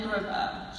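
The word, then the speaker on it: Grevioux: Kevin Grubbo, G-R-E-V-I-O-U-X.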